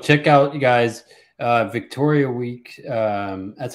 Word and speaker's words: Wieck: Well, check out, you guys, Victoria Wieck. That's how you say it, right? Wieck.